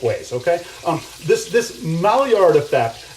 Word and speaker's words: Maillard: my art or malli artifact I've heard it pronounced both ways okay um this this Maillard effect it's um it happens about 310 degrees